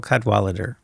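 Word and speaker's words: Cadwalladr: So, there's a very good reporter there named Carol Cadalader. The last syllable is kind of interesting. It's because it's there's no vowel. It ends with Dr. Carol Cudwalader.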